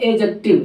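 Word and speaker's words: adjective: Sound नहीं होता एडजेक्टिव, यानी कि डी साइलेंट होती है, एडजेक्टिव साउंड होता है, AJKTIV, एडजेक्टिव, समझ लोगे, एडजेक्टिव नहीं होता।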